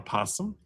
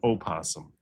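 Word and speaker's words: opossum: It can be called a possum. It can be called an opasum. But when you're talking about playing possum, no one would say don't play oasum. You just say play possum.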